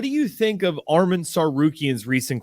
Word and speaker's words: Tsarukyan: You think I'm worried about freaking Arman Tsarukyan with a silent T at the beginning of his name? I was going to say Tsarukyan with a T. Just Tsarukyan.